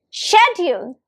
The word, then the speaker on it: schedule: It's like ule shed and the stress is on the first syllable that's on shed. So it's pronounced as repeat after me schedule.